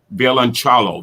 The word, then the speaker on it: violoncello: Is it violon? How do you pronounce that? Violoncello. Violoncello. That's Italian, isn't it?